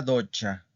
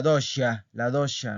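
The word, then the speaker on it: doccia: Vamos con la siguiente palabra que es la docha, la docha. Algunos dicen que la dosha, no, no es la dosha, es la docha, ¿ok?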